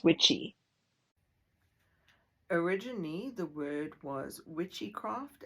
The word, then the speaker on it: Wicce: The word Wicce or wiki meant a female witch. The Old English pronunciation is witchy.